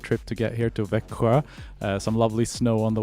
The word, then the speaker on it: Växjö: And thank you for saying the name of this place, because I still can't pronounce it. One more time. Can you say one more? Växjö?